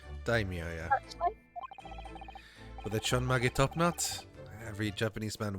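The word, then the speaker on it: ちょんまげ: Chon Mage? I will Google it. Chon Mage. Chonmage pronunciation.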